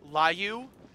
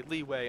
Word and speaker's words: leeway: you guys are wondering I would have pronounced leeway like Liu but I've known better because I've heard all my friends say leeway and not lieu but you know there's